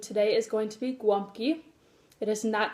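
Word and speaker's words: gołąbki: a Polish food today is going to be guam key it isn't that spelled like that but it is pronounced like that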